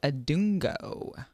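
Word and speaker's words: Adongo: I have one of my arms for this week, Daniel Adungo.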